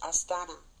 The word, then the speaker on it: Astana: And the capital of it, I believe, is pronounced Astana.